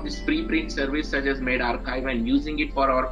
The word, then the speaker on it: medRxiv: MedRxiv, so this is the abbreviation MedRxiv, but it is pronounced as MedRxiv.